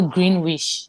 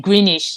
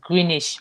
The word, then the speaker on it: Greenwich: calling them I remember calling Greenwich you know Green wish they call it greenish here greenish in secondary school they